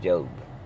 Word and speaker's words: Job: you that I'm living the real life of Jobe in the Bible what they call it job but somehow it's pronounced Jobe but anyway long story short I meant to